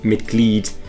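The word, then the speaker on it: Mitglied: you pronounce it ice whereas with the word like mit gleed it's m-i-t-g-l-i-e-d so you pronounce that mid-lead which means member fourth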